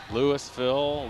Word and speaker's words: Louisville: this is Lou is Louisville okay thank you Lewisville Louisville it's Louisville in Kentucky well I've heard it called Lou